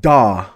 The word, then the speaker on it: Daw: I've played characters like Daw. That's how you pronounce it.